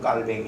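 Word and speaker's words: Calvin: 교리를 완성하신 분이 칼빈이 칼빈 프랑스 발음으로 하면 깔뱅 이고요 종교 개혁자 이분도 성경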